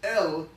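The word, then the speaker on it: אל: the aleph and the llama put together we pronounce it as l the term l literally means the strong mighty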